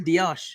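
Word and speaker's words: Díaz: Luis Diaz. That's how you say it. That's how the Diaz. It's not Diaz, it's Diaz. So look, this is from my Portugal interpreter who says these how you translate it.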